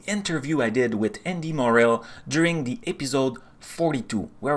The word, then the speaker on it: Morell: us today so very happy to have andy morell with us right morel i i'm pronouncing your family name greg you are yeah